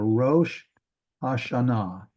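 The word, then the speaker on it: ראש השנה: here it's down here ro hashana ro there's the holum that's the O aen Ro and then ha you'll learn that that's the that includes that dog Ash there hash sh Ro hash that's the new year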